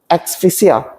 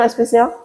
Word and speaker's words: asphyxia: The roots are going to experience asphyxia. I don't know how to pronounce it. You know asphyxia?